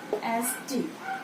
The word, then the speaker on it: honest: So when we say honest, we are pronouncing the vowel O, isn't it?